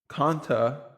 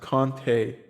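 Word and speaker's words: Konata: And in the 7th round, Conta, but I believe it's pronounced Conte. It's pronounced Conte Mumphrey.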